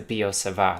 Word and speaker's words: Biot-Savart: in this case is the Biot-Savart law, or I don't like to pronounce the letter T, law.